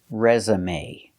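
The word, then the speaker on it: résumé: and up reza resum resum and the final syllable is a resume resume it's a noun it's countable i can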